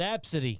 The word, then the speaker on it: ABCDE: Her name was Absidy. Absidy. Yeah. That sounds a little too close to the word abscessed for me.